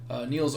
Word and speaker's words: Niels: Niels Åman, that's how you pronounce his name.